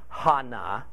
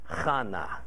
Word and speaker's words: Hannah: Now, verse 2 explains that this man Elkanah had two wives, Peninnah and Hannah, pronounced not like Hannah, but like Chana.